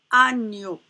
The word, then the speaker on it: agneau: Donc ici, le son O, à côté du son ni, ça se prononce nio, comme dans le mot agneau.